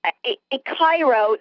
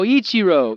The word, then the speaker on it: Ichiro: sir i i want to know how to pronounce this it's like a cairo suzuki am i saying this right no ichiro ichiro i'm more of a football girl ichiro